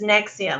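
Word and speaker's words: NXIVM: it Oh me and I never knew how you say it but it's nexium that's how you say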